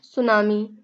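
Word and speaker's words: tsunami: उठने वाली ऊंची लहरें सुनामी में जो होता है टी साइलेंट होता है और सुनामी को यानी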